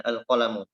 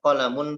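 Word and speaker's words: القلم: disitu disebutkan al-qalam ya alqolamu tidak dibaca qolamun Hai maksurun nya Tapi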